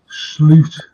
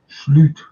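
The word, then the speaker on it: Slot: I know that it's just opinions I know slute that's the way you pronounce his name deed that's the way you pronounce his red his name he actually said it himself in an interview slute you pronounce me slute and slute he gets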